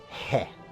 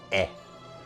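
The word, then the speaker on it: へ: sure you know uh is usually read as he but sometimes it can be used as like a direction particle like in this case and in in those cases it's pronounced as e not um so we're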